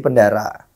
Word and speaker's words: Pendarah: mengganti Amik dalam menjadi pendarah Iya pendarah pendara sih bacanya pendarah lah ya oke setelah ganti